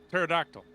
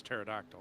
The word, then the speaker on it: pterodactyl: each man is silent pterodactyl is the actual that's how you pronounce that is pterodactyl yeah it is pterodactyl and it has a silent P I know that yeah